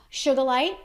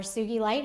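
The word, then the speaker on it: sugilite: it with me is sure the light or Sookie light however you prefer to pronounce it that is a great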